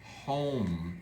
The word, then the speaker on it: home: When he got home, silent E again, so this one is O. Home.